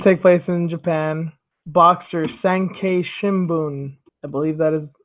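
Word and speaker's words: 産経新聞: Boxer Sankei Shimbun, I believe that is how that's pronounced.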